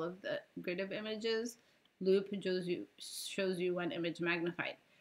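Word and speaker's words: loupe: is grid view and this is loop view.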